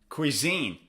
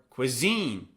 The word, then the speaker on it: cuisine: Cuisine or cuisine? Cuisine. It's on the second syllable.